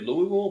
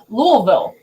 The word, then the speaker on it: Louisville: you can film now it was Louisville Louisville remind me of the shirt that he had it says like 10 different pronunciations yeah it's only supposed to be two syllables I honestly like she